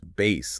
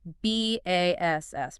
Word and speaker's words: bass: And the pronunciation is bass, like low, not the fish. Correct. B A S S pronounced bass.